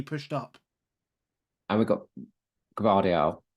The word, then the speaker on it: Gvardiol: And we've got Gvardiol. How do you say it? Gvardiol? I would go. I'd say the G. Say the G with it.